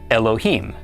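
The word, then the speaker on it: אֱלֹהִים: This is pronounced Elohim.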